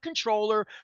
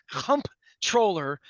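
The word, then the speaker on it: comptroller: she made me say it's not controller pronounce that M pronounce at m p m p comp controller so I'm going to say comp troller uh Brook lman as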